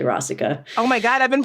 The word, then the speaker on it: Rasika: I was calling it Rasika for years, and then I finally talked to Ashok one year, and he was like, "It's actually Rasika."